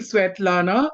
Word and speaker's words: Svetlana: I just love your name and you just gave me the rightest permission ever because I love pronouncing pronouncing sweat Lana.